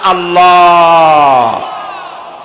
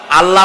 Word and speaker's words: আল্লাহ: জমিনের দিকে আল্লাহর নাম আল্লাহ বলেন তো আল্লাহ নয় কিন্তু আল্লাহ হচ্ছে অশুদ্ধ শুদ্ধ হচ্ছে আল্লাহ বলার সময় মুখটা গোল হয়ে যাবে বলেন তো সবাই উচ্চারণ